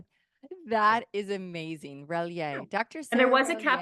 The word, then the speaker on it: Relyea: couldn't pronounce it, so they said Rel-Yay. Very phonetic. that that is amazing. Relyea.